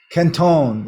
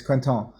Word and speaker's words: Quinton: Some Canton is how you pronounce it in French. Canton, and or people here pronounce it Quinton or Canton, but it's Quinton, and it's a guy's